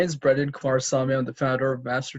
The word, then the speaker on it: Kumarasamy: for having me say my name is brendan quarsami i'm the founder of master talk it's a